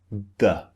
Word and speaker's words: the: can you hear uh so the is very often unstressed when we say a sentence in english for example the boy went to the shop the boy the is very unstressed we don't put emphasis on it so whenever words don't